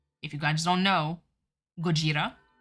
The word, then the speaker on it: Gojira: David something about no Gojira Gojira like Godzilla but pronounce it like a Japanese way that's Dragon Ball [